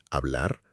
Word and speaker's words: hablar: La H en español es siempre muda. Muda significa que no se pronuncia, que no hace ningún sonido. Hola, hotel, hablar. Esa H es completamente silenciosa.